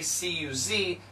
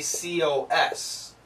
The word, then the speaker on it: because: Now, I believe in the UK and Great Britain, they don't say C-U-Z, they say C-O-S, cos. But in America, we say C-U-Z, cuz.